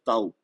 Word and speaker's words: tau: E vocês vão escutar falar taf o tempo todo. Em português o nome dessa letra é tau, ok? Eu vou falar taf, se vocês quiserem falar tau, aceito, ok?